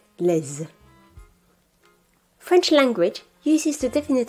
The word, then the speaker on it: les: Note that in front of a vowel or a silent H, les is pronounced les.